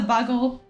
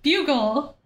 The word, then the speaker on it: Bugle: much I enjoy it that's how you pronounce it not the buggle I was totally wrong about that the bugle The Daily Bugle okay